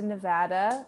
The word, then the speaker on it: Nevada: i've never been to nevada which i also even just learned not just but the first time i spoke to you that it's even pronounced nevada not nevada so i'm a real